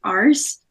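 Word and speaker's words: arse: she's about to say R is for the RS which is how you say ass in England uh because R is like if you say R is really quickly it sounds like RSS um so then she's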